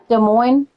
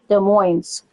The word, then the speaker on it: Des Moines: De Moines, you don't pronounce the S. De Moines.